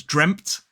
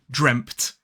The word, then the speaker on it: dreamt: And as another pronunciation point, some people will pronounce this word as dreamt. They'll put the t together, dreamt. And others will put a p sound in there as well to make the transition from to t easier.